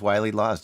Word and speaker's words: Wiley Lawes: Is it Wiley Lawes? Is that how it's pronounced? Yes. Yes. The first tune we have queued up today is Wiley Lawes.